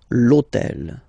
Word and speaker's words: l'hôtel: H, but remember that in French we don't pronounce H, okay, so basically the first sound of the word is the vowel O, okay, so for the same reason, needs to disappear. L'hôtel, okay, so if we